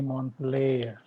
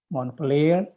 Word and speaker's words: Montpellier: Teh Dini Montpellier.